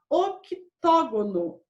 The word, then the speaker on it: octógono: Se chama octógono. O C é mudo.